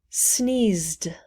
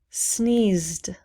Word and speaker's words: sneezed: pronounce the e pact sneezed sneezed we do not pronounce the e left left left left